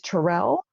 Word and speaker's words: Tyrrell: and i have a special guest today tyrell am i pronouncing that correct oh correctly okay good tyrell and is a inspirational speaker and a